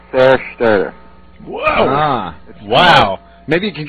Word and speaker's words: Zerstörer: We pronounced it pretty much like, let me think. It was like Zerstörer.